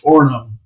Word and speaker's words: Orono: That was the nature of government in Orono. I can always say the name wrong. Is that right? Orono. Yeah, you don't say the second O because it's one of those weird Minnesota words.